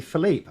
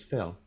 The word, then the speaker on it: Phil: He called me Philippe. I didn't go. No, it's Phil. I just said that's how you pronounce it.